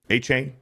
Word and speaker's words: Achane: Achane?